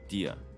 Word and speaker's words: Dehya: That's how you say her name, Dehya.